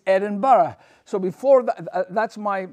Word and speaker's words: Edinburgh: G is glass go it's not Edinburg it's Edinburgh so before that that's